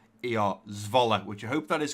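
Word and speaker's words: Zwolle: And supposedly, from what Lee said, it's pronounced, so Z-V-O-L-E-R, Zvola, which I hope that is correct.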